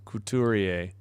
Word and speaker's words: Couturier: Yeah, I'm sorry I keep screwing it up. Thanks for the pronunciation. Couturier.